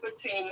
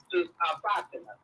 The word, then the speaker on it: Fatima: Oh, I'm a Muslim sister, and you can pronounce it Fatima or Fatima.